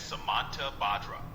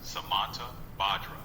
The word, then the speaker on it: Samantabhadra: The name Samantabhadra is pronounced as Samantabhadra. Let the rhythm of the sutra flow. Sure thing, Antoine. It's pronounced Samantabhadra.